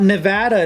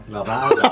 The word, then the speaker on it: Nevada: Nevada. I don't know what he's saying. They should get back to what happens here stays here. That's Am I better. saying it wrong? It's not Nevada, it's Nevada. Yeah.